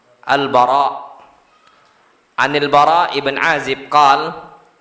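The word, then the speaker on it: البراء: Syuf, dulu santri itu bacanya Al-Barra, as-sahih Al-Bara, anil Bara ibn Azib qal kana Rasulullah sallallahu alaihi wasallam marbu'an, Rasul Allah orang yang ideal, tengah-tengah.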